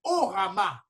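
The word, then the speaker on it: ὅραμα: Donc, maintenant, il y a un troisième type de rêve, de rêve qu'on appelle les orama. Orama, ça veut dire, ça s'écrit H-O-R-A-M-A.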